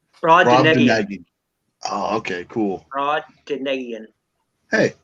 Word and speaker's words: Brobdingnagian: It's Brobdingnagian. Brobdingnagian.